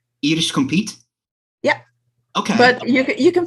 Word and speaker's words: Compiet: uh officially in in dutch my name is compete compete yeah okay but you can pronounce it as um my last name